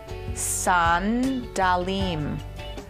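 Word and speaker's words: סנדלים: This would be pronounced sandalim. Sounds exactly like it does in English.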